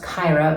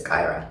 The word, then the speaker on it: Kyera: is at Cairo world that's k-y-e-r-a world it's pronounced Kyra but it might be easy to remember if you think Kai era world but it's Kyra Gyro World also I'm in the process of